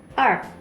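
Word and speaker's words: 二: 2, er. Jadi R-nya nggak terlalu bunyi teman-teman. Er.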